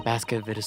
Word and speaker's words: Baskervilles: Then Baskerville's story.